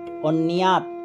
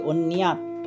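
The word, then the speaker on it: অন্যৎ: ধর্মে যে প্রীতি রাখে, অন্যাত, জফলার উচ্চারণ ইয় হবে, অন্যাত, ভোগ ছাড়া কিছু, ন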